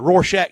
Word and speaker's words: Rorschach: The Rorschach test? Yeah, Rorschach. Am I pronouncing it right?